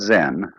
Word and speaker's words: Zen: so then this word zen is japanese way of pronouncing the chinese word chan which in turn is